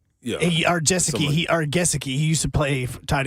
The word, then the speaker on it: Gesicki: I believe it's pronounced Jessic. Yeah. Gesicki.